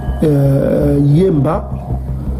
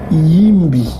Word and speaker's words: Yimbi: Donc, au lieu de dire Yemba, on dit Yimbi. Yimbi. Yimbi. On prononce Yimbi.